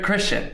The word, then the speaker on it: Kristian: always Christian that's right yeah it's because it's spelled it's spelled differently um it's from the K yeah instead of like a you know CH anyways um so I